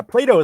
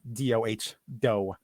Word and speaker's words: Play-Doh: maybe see um yeah Playdoh is spelled p a y d o so play do yeah yeah relle just said it too the play do is okay not do do um and that's true